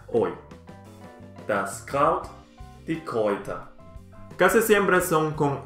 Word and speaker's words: Kräuter: Cuando una sílaba es con A, U y umlaut sobre la A, la pronunciación es OI.